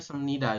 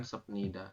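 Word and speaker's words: 습니다: sebnida ya ada sebnida Berarti ada bep di akhir bertemu dengan Nien ini kan Nien ya maka Bie berubah bunyi jadi m jadi bacanya sem seperti ini kita membacanya semnida Yun bukan senida seperti itu ya lanjut Mas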